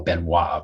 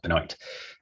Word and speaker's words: Benoit: I'd love to tell you about a case called Massimino versus Benoit, which you might be tempted to call Benoit, but it's apparently pronounced Benoit.